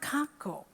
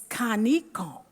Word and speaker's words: Conco: him about was the name conco when i pronounced that name to him he told me immediately no it's not kanko it's kaneko so i said okay could you explain this